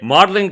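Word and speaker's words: Magdalen: से वो निकला होगा, तो यहाँ पे जी वहीं साइलेंट से हो है, गया। वहीं से है, लेकिन 500 साल पहले इसकी प्रोनाउंसिएशन डिफरेंट थी।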